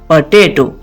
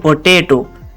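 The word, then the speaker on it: potato: अगला हमारा वर्ड है पोटेटो आलू जिसकी इंग्लिश है पोटेटो उसको गलत प्रोनाउंस किया जाता है जो कि लोग कहते हैं पोटेटो इसको पोटेटो नहीं कहेंगे हम कहेंगे पटेटो पोटेटो क्या कहेंगे पोटेटो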